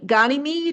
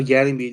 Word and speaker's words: Ganymede: Um, it's Gani Ganid. Is that how you say it? Uh, Ganymede.